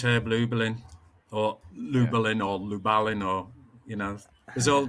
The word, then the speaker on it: Lubalin: the master is Herb Lublin or Lubilin or Lubalin or you know there's all there's all kinds of different ways to pronounce it isn't there how how would they say it in in or Christian Lubalin.